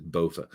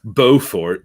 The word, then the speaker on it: Beaufort: gosh bo bo no he says bofa uh i don't know that might be how it's pronounced i'm i'm pronouncing it beaufort beaufort because it's the fort blue fort like booth wellington but with the t yeah that makes sense